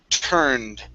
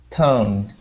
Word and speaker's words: turned: Now that UR is going to be an ER sound. So this is turned, turned. Try that. Toned.